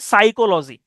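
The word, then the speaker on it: psychology: এখানে পি উচ্চারণ হয় না। এটা আমরা একটু আগে দেখেছিলাম। তারপর আটা খুব কমন শব্দ আছে সাইকোলজি।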